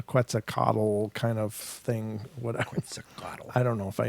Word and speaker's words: Quetzalcoatl: Quetzalcoatl. I don't know if I even pronounced that right. Yeah, but that's right. yeah, Quetzalcoatl.